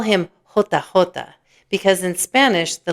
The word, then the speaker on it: jota: They call him Jota, because in Spanish, the letter J is pronounced Jota.